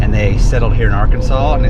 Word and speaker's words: Arkansas: truck welcome to R Kansas R Kansas R Kansas he means Arkansas do I do I